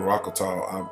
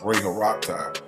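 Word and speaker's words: Ra-Horakhty: The last time I said it was Amanu Rakata, I mispronounced that. It's Ray Haraktai, also known as the first dynastic pharaoh.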